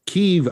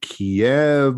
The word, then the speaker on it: Kyiv: Kyiv, I say, or some people say Kiev, or that's one of the things about all this too, is that everybody mispronounces or differently pronounces everything.